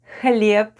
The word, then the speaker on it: хлеб: The first sound is /hh/ and it's like English /h/ but we sound it out: /hh/, /hh/.